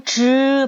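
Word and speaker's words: zhi: 발음 하실 겁니다 자 혀끝을 위쪽으로 오므리면서 입천장에 붙었다 뗀다 자지가 아니고 즈 발음 하셔야 돼요 즈 츠 르 다시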